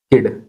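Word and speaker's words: kid: गया के आईडी किड अब देखो जब भी आई आए तो इसका उच्चारण ई होता है जैसे किड ठीक अब किड का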